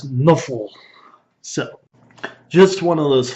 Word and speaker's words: Nuffle: known as Nuffle, which, if you look at how Nuffle would be pronounced, or how NFL would be pronounced by somebody that was an orc or a god or a dwarf, you would probably pronounce NFL as Nuffle.